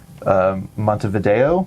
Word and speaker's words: Montevideo: because this is more of a macro view of a city, Montevideo.